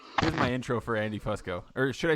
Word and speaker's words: Fusco: uh no but my it's technically pronounced Fusco but nobody ever says that yeah well I'm